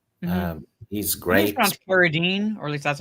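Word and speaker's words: Carradine: Uh uh what's it David Kadine plays Bill. Um he's great. Keredine, or at least that's how I've been pronouncing it.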